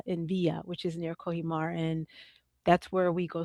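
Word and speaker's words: Cojímar: Um so before we get into some of my well some of the questions I really want to ask uh Kohimar, Cuba, why is that?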